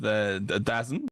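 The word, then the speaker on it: DAZN: He pretty much said uh then of course this deal with Dazzen which is how it's spelled. So that's how I'm going to say it.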